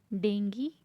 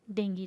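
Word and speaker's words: dengue: देखिए ये जो वर्ड है, इस वर्ड को ज़्यादातर हम डेंगू कहते हैं, बट in English this called भी डेंगी, नॉट अ डेंगू।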